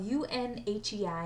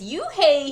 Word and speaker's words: Unhei: It's spelled U-N-H-E-I and it's pronounced Unhei. "Ooh, it's you-hey," he said, just like you-hey.